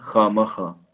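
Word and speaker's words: خواہ مخواہ: वाव मादुला से मुराद होता है वो वाव जो साइलेंट होता है जो पढ़ा नहीं जाता। और उसके लिए दो चीजों का होना जरूरी है। वाव से पहले खा आया हो और वाव के बाद अलिफ आया हो तभी वाव जो होगा साइलेंट होगा या वाव मादुला होगा।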